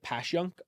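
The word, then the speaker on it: Passyunk: they say the youngers Apparently locals say passun yeah passun pan I could see it yeah I've heard people say it um not from South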